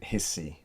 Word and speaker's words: Rissi: Hissy, yes. Yes, because I'm guessing that English people will automatically say Rissi.